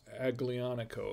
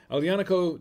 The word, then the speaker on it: Aglianico: pronounced aglianico okay it's it's not pronounced actually on a co it's pronounced and after a couple of uh a bit of this it doesn't matter how you pronounce it but it's uh aliani uh alianico okay it's pronounced elianaco alianaco del vulture and uh like i